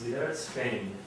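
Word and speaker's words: Lidércfény: So you pronounce the name of this piece, Lidera Spain. Think G-N-E at the end in French. It's a palatal Y in Hungarian.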